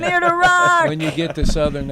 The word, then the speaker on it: Amir Derakh: AMIR DERAKH. It sounds better when other people say it. I know. Without the southern accent. AMIR DERAKH.